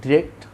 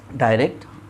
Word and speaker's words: direct: Students, direct এবং ইনডাইরেক্ট এটা British উচ্চারণ আইপিএর। আর যদি আমেরিকান স্টাইলে বলা হয় তাহলে হচ্ছে ডিরেক্ট অ্যান্ড ইনডিরেক্ট। তো আমরা ব্রিটিশ অনুসরণ করি, ব্রিটিশদের লেখাগুলোই আমরা পড়ি বা ওদের ভাষাটাই আমরা চর্চা করি। সো আমাদের উচ্চারণটা ওরকমই হতে হবে, ডাইরেক্ট অ্যান্ড ইনডাইরেক্ট।